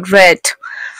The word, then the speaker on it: read: Pero si yo paso participio sería read. La escritura es la misma, lo que cambia es la pronunciación.